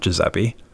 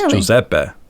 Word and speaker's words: Giuseppe: It's not Joseeppe. It's Joseeppe. Yeah. Joseeppe. Yeah. Joseeppe. Yeah. It's like that.